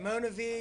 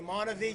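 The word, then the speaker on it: MonaVie: you could say it Mona V, you could say Mona V, just like the old commercial they used to have around here.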